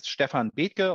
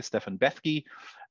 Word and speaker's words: Stefan Bethke: So my name is Stefan Bethke, or if you want to pronounce it in the more English way, Stefan Bethke.